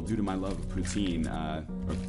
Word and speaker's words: poutine: to my love of poutine uh Putin I apologize but the canadianized pronunciation or English Canadian pronunciation is poutin I mean it sounds